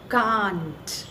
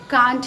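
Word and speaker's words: can't: Bollywood industries भी कांट he pronounce करती हैं, ओनली सुष्मिता सेन को ही मैंने कैंट प्रोनाउंस करते हुए देखा है।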